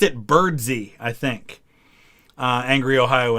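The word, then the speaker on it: Birdseye: and he pronounced it birdsee i think uh angry ohio and it like you look at it it looks like bird's eye but i think he pronounced it james birdsey mcpherson if i remember right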